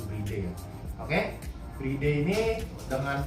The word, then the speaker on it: Bride: merek di Jepang yaitu Bright. Sebenarnya bacanya bre ya, cuman ya karena bright kan artinya mengantri jadi lebih gampang nyebutnya bahasa Inggrisnya. Tapi kita akan sebut dengan pelafalan benar yaitu breay ya.